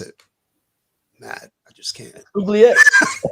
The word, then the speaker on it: oubliette: Oubliette. It's a French word. Oubliette. It sounds like a burp almost.